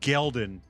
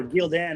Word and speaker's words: Gelden: All right, so we start episode 4 with a quick backstory of Logain, where he is destroying Gelden. Or Gildan, as I thought for 15 years.